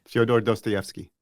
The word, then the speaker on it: Dostoevsky: you say his name yeah uh yeah close dostoevsky what anderson said uh his book crime and